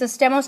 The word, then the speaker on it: estemos: So estemos, where do you hear the stress? It's on the second to last. So if the stress is on the second to last, does estemos need an accent?